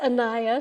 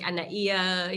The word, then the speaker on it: Anaiya: okay okay i mean usually it's anaya but i really love your version okay i'm in hawaii so we pronounce all of the vowels like anaia you know well okay